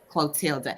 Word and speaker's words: Clotilda: is the leader of society of co uh clotilda am I saying that right y'all know I'm